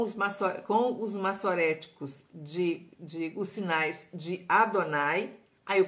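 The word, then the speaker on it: אֲדֹנָי: Com os maçoréticos os sinais de Adonai, aí eu pronuncio Adonai.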